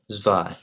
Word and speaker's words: zwei: Now, number two is zwei. Zwei, zwei. Remember, W's in German are pronounced as a V, so listen carefully.